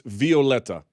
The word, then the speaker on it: Violeta: do you spell it it's like violet just it's the Latin version my wife's Latin so it's Violeta yeah that's awesome you